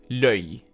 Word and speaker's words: l'œil: But coming back to the singular form, there is one pronunciation rule that you need to take into account. It's an O and E usually become an E. So you will say l'œil, l'œil, l'œil.